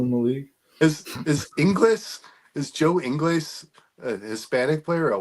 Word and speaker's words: Ingles: Is that really how it's pronounced? Ingles? Yes, Joe Ingles, not Ingles.